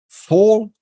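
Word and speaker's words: Phol: So full. The reason why I believe it's pronounced as an F is because if you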